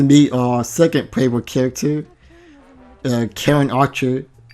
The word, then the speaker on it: Karen: Now we get to meet our second playable character, Karen Archer. At first I thought it was pronounced Sharon. I never thought of pronouncing it with a K.